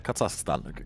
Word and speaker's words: Kazakhstan: down here in South Carolina all right kazak Kazakhstan give me a second it's always hard for me to pronounce it Kazakhstan Kazakhstan Kazakhstan yeah actually have